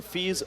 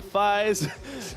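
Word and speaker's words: FISE: and you get us it's f is e you pronounce it fees not Phi's and that's just something to say you guys I mean coming from the English side most people want to say fives but it's fees look at the weather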